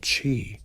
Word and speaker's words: qi: This invisible life force called chi, pronouncedq chi, flows through every living thing.